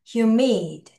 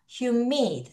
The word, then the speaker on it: humid: 발음해봐요. humid. 다시 humid. 다시 humid. 허 아니야? humid.